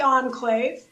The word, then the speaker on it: Enclave: Is that how you say it in Turlock? It's actually Enclave.